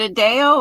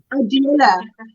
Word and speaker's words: Adela: Hey, is it Adele or you don't pronounce it like that? Adela. Adela. And my That- poppy.